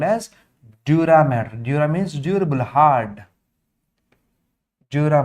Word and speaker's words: dura mater: Observe the spelling, it's not matter, it's mater. Mater means mother, maternal, paternal. That was the spelling, not matter, pia mater, dura mater.